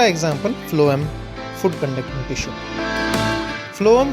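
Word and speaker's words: phloem: फ्लोएम के पहले 2 अक्षर को देखिए, PH। इनका उच्चारण, प्रोनाउंसिएशन जो है फ, बिल्कुल फूड के पहले अक्षर F के जैसा है।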